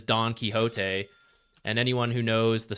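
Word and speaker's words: Don Quixote: key it's Ricky time are Americans pronouncing Don kote like Don quiot uh they shouldn't that one's a literary title so that one is Don kote and anyone who knows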